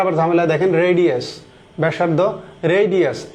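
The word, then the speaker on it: radii: ব্যাসার্দ রেডিয়াস। রেডি এর pronunciation কিন্তু রেডি নট রেডি।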